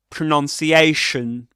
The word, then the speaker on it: pronunciation: Pronunciation. Right? Pronunciation. That's a double stressed word.